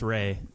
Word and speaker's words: Ralph: I don't know why it's pronounced Ray. It's like Ralph, but it's Ray Fiennes.